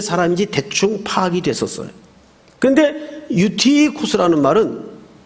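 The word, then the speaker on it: Εὔτυχος: 우선이 청년에 대해서 소개를 좀 하겠습니다.이 청년 이름이 한글 성경에는 유두고라고 돼 있는데 그 원 발음으로 읽으면 유티코스입니다. 유티코스.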